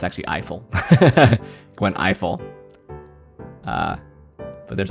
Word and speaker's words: Ifill: it was Gwen Gwen e Phil it's actually Eiffel Gwen Eiffel uh but there's also Cheryl and